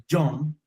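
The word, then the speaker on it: יום: La palabra se escribe John, Y-O-M.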